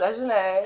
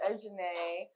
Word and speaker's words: Ejine: Hey guys, my name is Ejine. Technically, my name is actually pronounced Ejine, but I actually go by Ejine just to make it easier on the Westerners and everybody because, well,